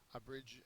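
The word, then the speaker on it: abridge: word is a bridge a bridge is a verb second syllable is accented it means to make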